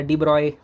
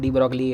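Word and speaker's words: de Broglie: एच बाई न्यू क्या होता है तुमको पता होगा, पी लैम्डा डी ब्रॉय होता है, प्रोनाउंसिएशन बोलते सब डी ब्रॉगली है, छोड़ दो।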